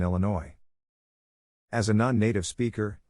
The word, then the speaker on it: Illinois: correctly drove me batty she also pronounced the s in Illinois as a non-native speaker